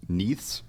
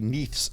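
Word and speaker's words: Neith: so AGM gave us three needs neaths I believe that's how they pronounce it in e-i-t-h and then plural yes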